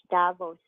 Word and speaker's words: Davos: called the gabbos crowd yeah how do you spell that okay it's the city of Switzerland yeah city of Switzerland e-a-v-o-s Davos thank you see that's why that's why the